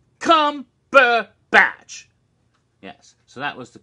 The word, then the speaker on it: Cumberbatch: r2d2 and he goes that's Cumberbatch three damn syllables Cumberbatch yes so that was